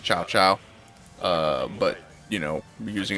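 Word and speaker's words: Cao Cao: thinking of doing like a cow cow um but i suppose it's pronounced chow chow uh but you know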